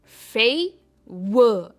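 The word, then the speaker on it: favour: बढ़ते हमारे next set of words की तरफ, जो है फेवर। इसमें भी आर प्रोनाउंस नहीं होता है, इट इज फेवर।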